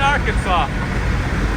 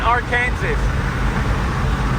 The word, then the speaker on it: Arkansas: We're officially in Arkansas. Or is it Arkansas? What? Arkansas. It's spelled Arkansas.